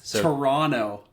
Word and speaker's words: Toronto: actually go silent it's it's a silent T Toronto at least that's what